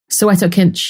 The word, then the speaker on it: Soweto Kinch: So how do you pronounce the saxophonist's name? Soweto Kinch.